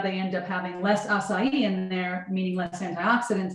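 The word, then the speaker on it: açaí: The acai bowls? Is that how it's pronounced?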